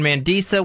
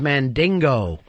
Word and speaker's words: Mandisa: In the final 12, I've only been off 1 week when Mandisa went. Tonight, I hate to correct you, but again, mispronunciation. Her name is Mandingo. Mandingo. It's Mandisa.